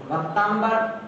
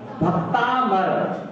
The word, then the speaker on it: भक्तामर: हम अधिकांशतः उच्चारण में देखते हैं लोग क्या बोलते हैं? भक्तांबर पाठ, भक्तांबर पाठ, अंबर बोल देते हैं या भक्तांबर बोल देते हैं, तो दोनों गलत हो जाती हैं। है क्या? भक्तामर, भक्तामर, भक्तामर, भक्तामर।